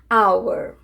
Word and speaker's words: hour: Iniciadas por H quando este não for pronunciado. Presta atenção. Só quando ele não for pronunciado, tá certo? An hour.